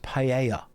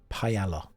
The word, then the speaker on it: paella: Now, some of you will say, "Josh, it's pronounced paella." No. There is an L in the word. Paella.